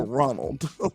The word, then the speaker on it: Ronald: He put every syllable in there. Ronald. You don't pronounce the L and the D on no other word at the end. Like that boy said Ronald.